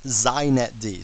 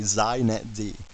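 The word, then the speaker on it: xinetd: a couple things first it's pronounced zet D so if you want to be hip you say zet D okay and secondly it's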